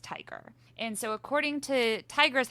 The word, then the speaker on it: TIGHAR: And so they're known by their acronym TIGHAR, which is pronounced Tiger.